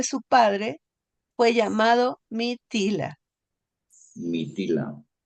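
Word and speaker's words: Mithila: padre Fue llamado mitila mitila está bien pronunciado maestro krishna sí es m i t h i a L A mitila en el barata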